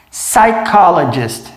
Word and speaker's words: psychologist: Psychologist. Reparem que a gente não pronuncia o P. O P é mudo. Vai direto para o S, ó.